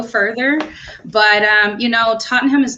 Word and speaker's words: Tottenham: his swan song in totenholm is that did i pronounce that correctly or is it just totally tottenham tottenham thank you so megan mike i